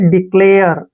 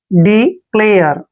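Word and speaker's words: declare: एयर पढ़ते हैं एयर ए आर ई को एयर पढ़ना है यहां पे डिक्लेयर डिक्लेयर डिक्लेयर होता है सूचित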